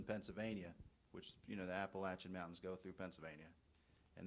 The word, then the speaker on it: Appalachia: teach you how to talk yes yes it's pronounced Appalachia it's B it's in it's banan County it's